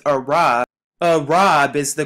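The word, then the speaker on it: ערב: at strong's concordance h6153 where it says arab arab is the correct pronunciation of the word to mean evening which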